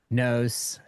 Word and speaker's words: Nousse: Representative Nousse, rhymes with dose, by the way. Yeah, you said it just right.